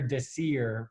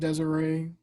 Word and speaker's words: Desir: he did against Pierre Desir for the New York Jets. I think it's pronounced Desiree, but yeah.